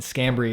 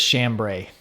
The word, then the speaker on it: Scambri: And Scambri is an Italian or Sicilian name, maybe Sicilian specifically. But everybody says Chambray because it's spelled SCH. But it's scam with a hard K.